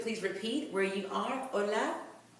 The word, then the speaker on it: hola: If you could please repeat where you are, hola. Remember that the H is silent, so even though it begins with an H, you will not hear that H.